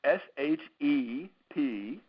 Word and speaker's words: Shepherd: So it's SHEP, Shep for short, and then HERD. So you got to have the silent H and you got to have the E.